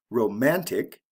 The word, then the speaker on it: romantic: IC ending romance romantic we also have a shift in the stress pattern Romance the first syllable is emphasize romantic the second syllable is emphasized why Thrifty glossy lazy